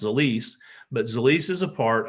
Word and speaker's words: Zilis: What is Zilis? And we said, well, it's actually pronounced Zilis, but Zilis is a